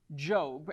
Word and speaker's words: Job: find ourselves in it's spelled like job but pronounced job and in the book of job there are